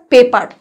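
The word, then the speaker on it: paper: thick পেপা thick পেপা অর্থাৎ পেপার আটটাকে সাইলেন্টলি চেপে যেতে হবে উচ্চারণ না করলে ভালো থিক পেপা তারপরে মোটা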